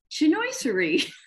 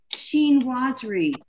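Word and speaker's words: chinoiserie: so this is uh i've always said chenoissary because i wasn't sure how to say it is that you know an asian form of art that's how it's spelled and i'm a you know i'm a phonics kind of gal and it's actually called sheen rosary sheen laws read so i had to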